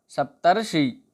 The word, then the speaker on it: सप्तर्षि: पहला उदाहरण है हमारा सप्तर्षि, अर्थात सप्त प्लस ऋषि। यहाँ छोटा और ऋ मिलकर अर हो रहे हैं। इसका उच्चारण करने पर अर का उच्चारण होता है, जैसे सप्तर्षि।